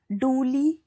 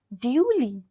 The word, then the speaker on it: duly: इस वर्ड को डूली नहीं बोलना है, इसकी करेक्ट प्रोनाउंसिएशन है ड्यूली.